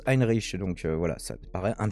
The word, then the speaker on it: Heinrich: Et donc le Henri XIII, ça se prononce Heinrich, donc voilà, ça paraît un petit peu plus logique finalement.